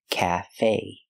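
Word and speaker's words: café: like black cat calf the E is pronounced with a long a like say and pay Cafe Cafe CFE a cafe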